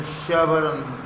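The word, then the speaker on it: chevron: Finally, Shavaran, pronunciation Shavaran.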